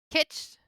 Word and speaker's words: kitsch: Kitski sounds like itch. Kitsch? Kitsch? Is that what it is?